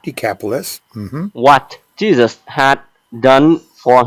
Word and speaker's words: Decapolis: and began to Proclaim in the their capitalists the capitalist that's right decapolis what Jesus had done for him and on